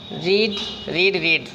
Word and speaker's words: read: रीड first second third spelling एक ही होती है, लेकिन उच्चारण में थोड़ा डिफरेंस होता है। फर्स्ट फॉर्म और सेकंड फॉर्म को हम रीड ही कहते हैं और थर्ड फॉर्म को रेड कहा जाता है।